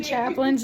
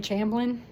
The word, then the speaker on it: Chaplin: he was bored, and he mispronounced Charlie Chaplin's name like the whole time. It was Charlie Champlin like most of the time.